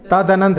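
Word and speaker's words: तदनन्त: तदनंत ऐसा करके, तदनंत दा पे जोर दे करके यदि उच्चारण करेंगे तो सही उच्चारण उसका आएगा।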